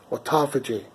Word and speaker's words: autophagy: I always want to say autophagy. It doesn't sound right? It's autophagy.